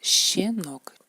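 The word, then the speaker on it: щенок: Y el ejemplo es shenok. Es como la sha, pero más como silbamos un poquito.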